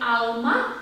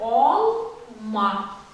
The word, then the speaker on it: алма: А не алма, а олма. Давайте скажем олма.